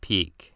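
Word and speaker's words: Pieck: I don't give a fuck if it is a French name and it's supposed to be pronounced Peak. I'm not going to say it like that. Piek X Reiner, that's a little weird.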